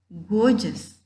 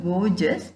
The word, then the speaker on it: gorgeous: look at this example gorgeous in the word gorgeous you can hear soft G sound and hard G sound both it begins with hard G and in the middle